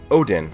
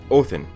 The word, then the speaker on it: Odin: So to talk about Valhalla, the first I will need to talk about Odin, or properly pronounced Othin.